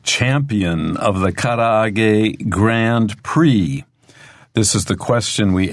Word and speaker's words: Prix: Okay, and Karaage we'll talk about in the lesson, but Grand Prix, even though this ends with IX, it's a French word, and so it's pronounced Prix, Grand Prix.Grand Prix?